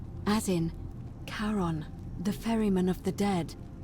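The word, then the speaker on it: Charon: Only your pronunciation is a little off. The name you heard wasn't Karen. It was C H A R O N. As in Caron, the ferryman of the dead.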